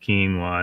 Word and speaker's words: quinoa: don't know how it's spelled Quin NOA it's pronounced quinoa and they were promoting it is a super